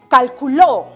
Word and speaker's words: calculó: Que si esta palabra lleva tilde, que esta no, si lo puse en la sílaba correspondiente, porque no es lo mismo pronunciar calculó, calculo, cálculo. Este pequeño signo gráfico, esta rayita insignificante llamado tilde, hace una gran diferencia.